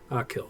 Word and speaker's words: Achill: I was conspicuously avoiding saying it just in case I butchered it. Achill, okay.